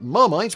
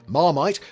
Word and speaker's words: Marmite: The name Marmite, while pronounced in English as Marmite, was derived from the French marmite, meaning cauldron or stock pot, the image of which